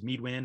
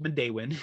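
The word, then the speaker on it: Midewin: system it's called modain national tallgrass prairie often mispronounced as meadwin or midwin which makes sense when you when you look at it phonetically but it's pronounced mondewin and it comes from actually a parawamy uh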